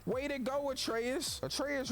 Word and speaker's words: Atreus: to go with Reyes atreus rhymes with Petraeus his ass and all